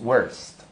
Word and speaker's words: worst: Así que aquí la vocal O perdió su sonido natural porque tiene después de ella tres consonantes. Ahora, ¿qué sonido va a adquirir? Aplicamos la regla 2. O con R delante, decimos R, decimos worst.